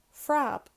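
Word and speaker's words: phreab: P plus H is pronounced like F, so that's handy because it's the same in English, like the word phonetics. That starts with PH and it's pronounced like F. The word I'm going to use, for example, in Irish is prab, which means blink. Add the H, it's frab.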